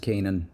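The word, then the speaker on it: K'naan: Kanan. It's pronounced Kanan. No, wait. Kanan. Kanan. Oh, so the K, it's like the letter K.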